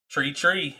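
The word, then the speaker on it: three: Tree, as Jake Taylor would say. Tree. Tree. Yeah, they don't pronounce their H's in Newfoundland, so it's tree.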